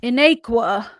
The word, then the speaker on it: Inaequa: Next week we will resume with episode 4 of Coriander Society Inaequa. I think I said it right. More of an A, but yeah, you're good. Inaequa.